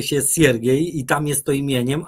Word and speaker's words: Siergiej: Znaczy na wschodzie jest to imię, nie wymawia się Siergiej jak sierpień, czy sierota, czy sierp, tylko wymawia się Siergiej i tam jest to imieniem, a Aleksander jest nazwiskiem.